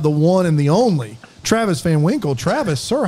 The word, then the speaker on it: Travis Van Winkle: my last name and they'll forget the van and they say well hello Mr Winkle or Travis Winkle and I there's always